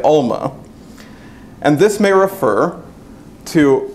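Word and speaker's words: עלמה: this hebrew word is if i can pronounce the right alma for something like that the guttural is a little difficult for me but it's it's we usually say alma and this may refer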